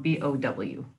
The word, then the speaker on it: bow: first word spelled b-o-w now you can pronounce this as bow which means to bend forward at the waist like when you bow uh the the you know prince bow to the king or you can pronounce it as bo where it means a pair of tied loops like a bow you put on top of a present or a bow that